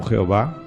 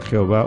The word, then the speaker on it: Jehová: el tetragrama Sagrado no de yahvé o Jehová como quieran pronunciarlo porque en la escritura hebrea se escribe solamente con consonantes no con vocales entonces sea Jehová o yahvé son las dos formas de pronunciar ese ese tetragrama no entonces bueno qué